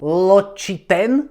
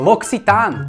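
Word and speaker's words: L'Occitane: Čítam, čítam locitane ločiten. Losin nie kamoško, Loxitán.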